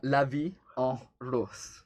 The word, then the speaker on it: La Vie en Rose: How do you pronounce it? La Vie en Rose.